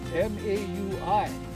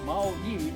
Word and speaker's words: Maui: You take Maui, M-A-U-I, pronounce the I like an E. Maui, not Maui, okay? Totally different.